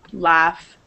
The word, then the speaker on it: laugh: Just like with O-U-G-H, the second one is F, like as in half. Laughter, laugh, laughing. Oh, ignore drought, that shouldn't be there. Laugh. This F sound is nothing else, it replaces all four letters.